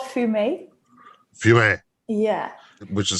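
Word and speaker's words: Fumé: It's called Fume. Fume. Yeah. Which is spelled F-U-M-E with the little thing on top and then regular E.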